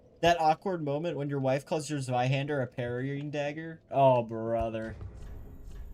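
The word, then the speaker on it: Zweihänder: I call it Zweihander. I know it's a little, I don't know how to like truly pronounce it, but I'd call it the Zweihander. Probably more like ZV than ZW. Zweihander.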